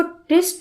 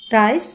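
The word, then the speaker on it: tryst: ट्रिस्ट, देखो बेटा इसको ट्रिस्ट बोलना है, इसकी प्रोनाउंसिएशन ट्रिस्ट है, ट्राइस्ट नहीं है, सो बी केयरफुल।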